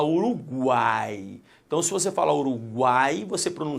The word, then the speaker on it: Uruguai: pronunciado será uma semivogal você não fala ouro Guy possuia Uruguai e não você fala Uruguai então se você falou